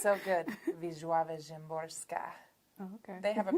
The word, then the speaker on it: Wisława Szymborska: Wisława Szymborska. Oh, okay. They have a pronunciation guide in the front of her book.